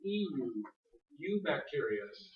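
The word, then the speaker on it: eubacteria: That U is spelled EU. U bacteria.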